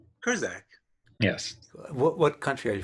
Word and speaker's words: Kurczak: It's Kurczak. Kurczak.